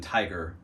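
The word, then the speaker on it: Tadhg: It's actually a really popular name in Ireland right now, but it's pronounced it's Tig, like as in tiger without the just Tig.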